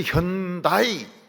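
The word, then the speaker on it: Hyundai: 그래서 현다이 이 발음 못해. 현다이 발음을 못해. 하이언, 드라이 이런 식으로 발음을 합니다.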